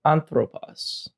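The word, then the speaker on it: ἄνθρωπος: One example of this is if we look down here, we'll see anthropos. You can see that it has an accent on the antepenult. Since the final syllable is long, you'll see that the accent gets moved up to the second to last syllable.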